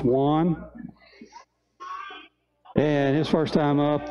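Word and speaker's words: Wonn: His last name is spelled W-O-N-N, pronounced Wan.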